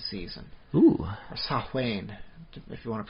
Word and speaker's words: Samhain: From the week before Halloween to the 15th or so of November, they're doing their Halloween Samhain season. Ooh. Or Samhain, if you want to pronounce it properly. Samhain.